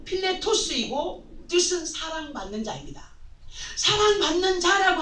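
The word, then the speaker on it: Φιλητός: 이 사람에 의하여서 빌레도가 잘못된 교리에 빠지게 되는데, 빌레도의 이름을 보면 헬라어의 발음으로 필레토스이고 뜻은 사랑받는 자입니다.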